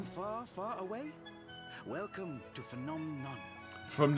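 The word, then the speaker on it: Phnom Nonh: you come from far far away welcome to phenom none from nom nom is how you say it first i should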